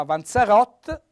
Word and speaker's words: vanzarot: di cibo anche qua avanzarot accento tonico sulla o che si trasforma anche